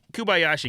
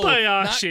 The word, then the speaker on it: Kobayashi: yeah, Kubayashi gets water. Yeah, Kobayashi is water. Kubayashi. Kumbaya. Yeah, everybody knows Kumbaya. the famous eater Kubayashi. Is his name not Kobayashi? It's Ko, Kobayashi. Not Ku.